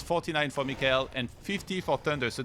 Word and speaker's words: MichaeL: Is it Michael or MichaeL? Well, with Korean letters and pronunciation, it is MichaeL. Okay. Like Michael is like, you know, American or something pronunciation. So then it's a question of how, like, you can say it how you want, but he says it MichaeL, so that's how I say it as well.